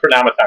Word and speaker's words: Chronomaton: I think it's like Chronomaton because it's like automaton. So I imagine the emphasis being the same syllable.